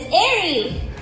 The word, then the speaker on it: Aarie: me my name is Airy easy to say it's two syllables but not so easy